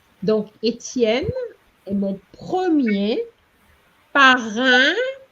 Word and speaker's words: parrain: Donc, Étienne est mon premier parrain, parrain, hein, which is the same pronunciation as the IN, parrain, Parrain.